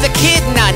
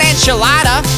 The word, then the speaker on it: echidna: He said it's pronounced echidna, not enchilada.